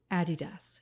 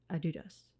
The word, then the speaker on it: Adidas: Also, American listeners, Adidas. It's not Adidas, it's Adidas, okay? It's German, that's how they pronounce it, Adidas.